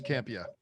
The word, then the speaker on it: Campea: this documentary, movie trailers, a love story, John Campea. Am I pronouncing that right? Yeah, it's a very rare Italian name, but yes, Campea.